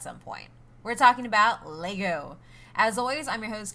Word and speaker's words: Lego: not to pronounce it Legos because Lagos is not correct like Lego is both a singular and a plural which I found out